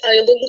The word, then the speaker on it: island: Like, you guys write island so pretty, and then you don't pronounce it that way, and it's like, what?